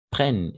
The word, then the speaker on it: prennent: adjectifs masculins et féminins prennent ici on va prononcer prenne d'accord on ne va pas prononcer ent à la fin attention simplement prenne d'accord prennent un accent aigu